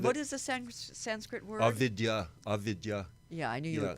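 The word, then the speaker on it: avidyā: Avidya. Yeah, I knew you would pronounce it correctly.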